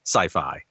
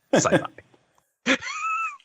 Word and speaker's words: sci-fi: Rudy yes that's sci-fi is not very definitely pronounced sci-fi yeah not scii not siy that's or skyfi yeah it's sci-fi then why did the